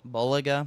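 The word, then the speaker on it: Bulega: know how to say his last name boliga boliga yeah Nicola boliga yeah yeah so he's um you know up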